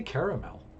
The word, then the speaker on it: caramel: or caramel or caramel i say caramel actually like i don't say caramel coated apples i said caramel coated apples so three syllables three syllables for that okay that's looking good